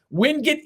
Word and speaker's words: Wingate: And as we speak, Chris, Wingate/Wingate, school officials have told us either is acceptable as a pronunciation. Wingate is the only one